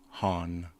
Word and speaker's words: Han: So the next time someone tries to correct you on how to properly pronounce Han Solo, let them know that both ways are correct. Han and Han.